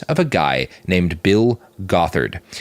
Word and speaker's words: Gothard: They are followers of a guy named Bill Gothard. It's spelled got hard, and that'll be relevant in an unfortunate way later.